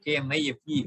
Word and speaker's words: knife: This even in English we say K-N-I-F-E, we write. Then we pronounce it knife.